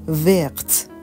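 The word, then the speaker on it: verte: میشه تلفظش تغییر نمی‌کنه وق سبز مؤنث یه ا آخرش اضافه میشه میشه وقت ویول بنفش مؤنث یه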